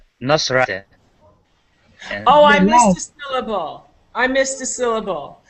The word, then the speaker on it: Nasrat: Rat is I think it's Nosrat. Oh, I The missed a last.